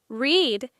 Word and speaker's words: read: Read. It looks the same in the past, but it's pronounced like the color red.